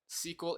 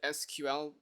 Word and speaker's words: SQL: do you know what SQL is, by the way? My friends mentioned that they're computer science teachers. I do. Okay. Maybe they've called it SQL, but its proper pronunciation is SQL.